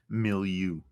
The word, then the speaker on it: milieu: Most of the security tradition in the activist how do you pronounce that word? My Milieu.